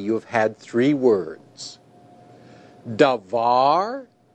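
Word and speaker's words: דָּבָר: Davar. In this word, the tonic syllable is var. That's the syllable that receives the accent.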